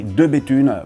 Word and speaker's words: De Bethune: Okay, next one is easy, de Béthune, but there could be a trick for English speakers because yes, the TH sounds just like a regular T, and actually regarding tea,